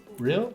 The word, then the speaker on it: Rhyll: the tender position is on the island of real real real that's how you pronounce it so where is real what it's